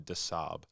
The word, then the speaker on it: des Sables: the disables is it yeah so it's it's pronounced Marathon disab disab yeah but it is spelled disables disables